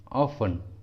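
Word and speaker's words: often: ठीक है, कुछ कॉमन इंग्लिश वर्ड्स में टी साइलेंट रहता है। For example Christmas, Christmas, ऑफन, ऑफन, listen, listen, इन सभी वर्ड्स में टी साइलेंट है।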